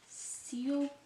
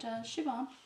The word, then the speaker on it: Siobhan: Siobhan, I think a lot of Americans say, but Siobhan.